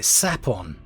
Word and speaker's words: Sapphon: the finder of Secrets now I'm pronouncing it saffron I know some people call it sapon but I'm gonna go with sapphire so saffron it is at least until I